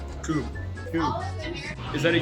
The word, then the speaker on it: Kubb: How do you pronounce this? Kubb. Kubb. Is that a U or an L? That is a U. Kubb? Kubb. Yeah. Kubb. Kubb? There we go. Another wrong answer. Cubby.